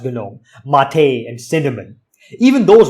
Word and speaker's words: GNOME: You can delete whatever you want, and even these GUI'd up desktop environments like GNOME, it's pronounced GNOME, Mate, and Cinnamon.